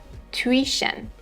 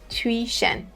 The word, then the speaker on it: tuition: The pronunciation is tuition, tuition for both British and American versions.